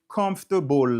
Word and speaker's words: comfortable: Ki kote stress syllable lan ye? Syllabe accentué an. C'est ça oui les syllabes accentuées. Nan ki parti liye? Nan comfortable lan. Est-ce qu'on connaît Marc? Nan premier an.